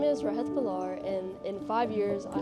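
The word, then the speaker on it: Rehat Bhullar: Um, what's your name and how do you spell it? Uh, my name is Rahit Balar.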